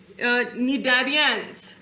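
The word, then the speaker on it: Cnidarians: इसको प्रोनाउंस करते हैं निडारियंस जिसमें सी भी लगा है निडारियंस and this has shown hygienic behaviour because it emits toxins to keep its environment clean.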